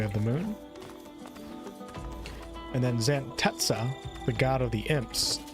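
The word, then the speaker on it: Xantezza: We have the moon and then Zantetsa, the god of the imps. Tetsa is the way the game pronounces it.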